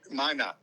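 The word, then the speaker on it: Minot: going back to minutes Studio how do you pronounce it m i n o t Mina yeah Mina yeah so anyway those so I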